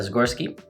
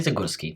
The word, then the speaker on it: Zagorski: my name is zagorski that's the way most people pronounce it but it's actually zuguski today is the first of june 2022.